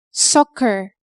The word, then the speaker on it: soccer: one notable exception is the word soccer we pronounce the first and the second see as a K sound soccer another exception is the words muscle